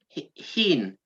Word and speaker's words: Hien: Which is it? Hien or Hien? Hien. Oh wow! So I've said it wrong every time.